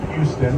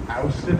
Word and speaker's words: Houston: Houston is the correct pronunciation. It's not Houston, that's another guy. Different story. There's a fellow by the name of Houston. If you say Houston, you are marked out of town.